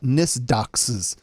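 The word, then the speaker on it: NYSDOCCS: Corrections and Community Supervision that's too many letters to make an acronym n-y-s-d-o-c-c-c-s usually you can pronounce things so we'll call it nist doxes uh began rolling out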